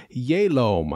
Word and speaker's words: Jhelom: you can see here we are still in the town of yelom i think that's how we're supposed to pronounce it j-h-e-l-o-m i really kind of